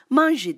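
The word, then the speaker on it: 卍: bir Budizm sembolü var Japonca'da bu manji diye telaffuz edilir manji hukuku Sayın kullandığı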